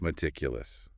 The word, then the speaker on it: meticulous: Meticulous. Stress on the second syllable. Titic. 4 syllables.